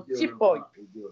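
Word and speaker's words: tipoye: Donc les gens doivent l'amener en tipoy.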